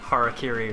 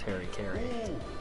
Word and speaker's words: harakiri: Harakiri right now. That would be offensive if I mispronounced it as Harry Carey. Harry Carey. There are some people who like truly mispronounce it as that.